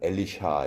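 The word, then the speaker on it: Elisha: 엘라이저 아고 발음을 하고 엘리사는 엘리샤 이렇게 발음을 합니다 그러니까 영어로 이렇게 발음을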